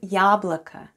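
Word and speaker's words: яблоко: word for today is yablaka yablaka yablaka yablaka is an apple in russian yablaka let's have a look at the spelling of the word yablika the first sound is ya and it's stressed then goes then goes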